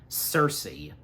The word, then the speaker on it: Cersei: In case if I mispronounce it again and if I forget, so just a heads up. Cersei, there we go.